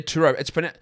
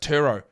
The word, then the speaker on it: Turo: Many Turo hosts can even deliver the car right to you.